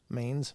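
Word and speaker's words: Mainz: was considered a history changing invention died in minin or minin I don't know how to pronounce that Mains M all right there you go that was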